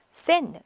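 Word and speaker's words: Seine: 그리고 그 옆에는 센느, EI인데요. 라센느강이에요. 네, 센느강은 관사를 붙여야 되기 때문에요. 보통 그냥 센느 그러지 않고 라센느라고 이렇게 이게 정관사거든요. 그래서 이렇게 센느, 라센느 그렇게 합니다.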